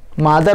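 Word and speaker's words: mother: और इसमें एक न्यूक्लियस इसमें चला जाएगा और एक न्यूक्लियस अभी भी मदर सेल में, इसे बोल सकते हैं मदर सेल या पेरेंटल सेल, मदर सेल, मादर नहीं मदर सेल। प्रोनाउंसिएशन ठीक करो, गाली भी पता नहीं कैसे दे।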